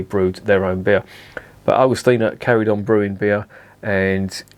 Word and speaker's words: Augustiner: Augustiner, or Augustiner as it's pronounced in German, is one of the oldest breweries in Germany.